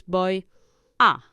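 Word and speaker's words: voy a: boy a I'm going though it is spelled in two words but in in the spoken language you contract the boy to bo bo you make practically one word yes in speaking bo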